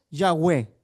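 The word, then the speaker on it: Yahweh: Y la mejor, la pronunciación que más se acerca al nombre es Yahwe.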